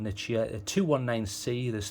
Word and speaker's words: Nichia: So the different flavors it comes in, you can get it in a Nichia or Nicaea, however you want to pronounce that. I call it a Nichia, a 219C.